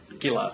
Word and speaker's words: Gillard: support to oust Julia, is it Gillard, the pronunciation? Or yes, Julia Gillard. Gillard, that's Julia right. Gillard.